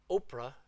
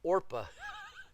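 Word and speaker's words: Orpah: the moabite girls and their names were not Oprah do you see Oprah there it's not Oprah it's orpa I always wondered where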